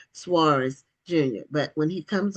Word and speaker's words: Soaries: Is that what how it's pronounced? Yeah, the very sophisticated, high class, well educated folks say Suarez, but most common folk just say Sor.